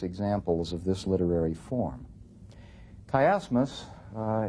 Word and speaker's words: chiasmus: of this literary form kmus uh it's spelled CH H as m u s is a literary art